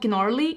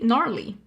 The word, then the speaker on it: gnarly: a little bit but this one is called gennarli gnarly not gnarly like it's a silent G right a gnarly again